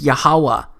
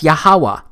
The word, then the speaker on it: Yahuwah: simple back then that it vocalized each consonant with an AA sound without specifically marking that sound between consonants so this yhw H it's pronounced yahuwah it also turns out